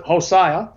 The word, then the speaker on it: Hosea: but let me read hosai Hosea some pronounce it hosiah 12 verses 2 to